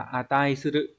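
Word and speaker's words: 値する: À, đọc là atai suru.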